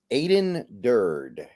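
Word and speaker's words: Aden Durde: Aiden Durd, and I do believe that is how you pronounce it.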